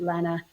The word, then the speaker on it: Lena: It looks like Lena, but my family's always pronounced it Lena.